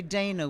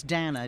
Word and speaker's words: Dana: Usually Americans say Dana, which is horrible. It's Dana, D-A-N-A. Rhymes with Spanner. Rhymes with Spanners.